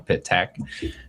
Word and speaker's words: Pittak: So I'm always fascinated by it's like 2 syllables, right? And break it down. Pittak, not Pittak or Pittak or Pittak.